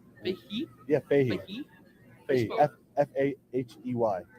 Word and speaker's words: Fahey: F-A-H-E-Y. Fahey. You spell it as it sounds.